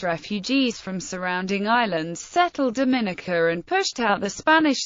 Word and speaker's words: Dominica: are more adjective is Dominican in English it is pronounced with the syllable stress on the second I to distinguish it from the Dominican Republic where the stress is on the first I history early European contexts